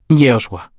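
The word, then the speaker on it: יהושע: ¿Y sabes cómo se dice Josué en hebreo? Jehosa, el mismo nombre que Jesús.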